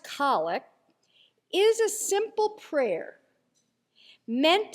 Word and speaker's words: collect: Now for those of us who may not speak Episcopal, a collect spelled like collect but pronounced collect is a simple prayer meant to combine the people's intentions and the focus of worship into a succinct prayer.